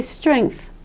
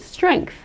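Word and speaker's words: strength: So they say "strenth", "strenth". I will say, though, that native English speakers in America add a sort of a K sound here.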